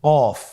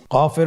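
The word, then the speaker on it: قاف: আবার বলুন কফ কফের মাখরাজ স্ক্রিনে লক্ষ্য করুন এখানে আমরা মাখরাজের বা উচ্চারণের স্থান দেখতে পাচ্ছি কফের মাখরাজ হলো জিহ্বার গোড়া তার বরাবর উপরে তালুর সঙ্গে লাগিয়ে উচ্চারিত হয় জিহ্বার গোড়া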